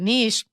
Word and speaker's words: niche: to do this because there are two common pronunciations variants both of which are currently considered correct so they're both correct okay but they said they gave us the examples like Niche rhymes with Shish I am imagine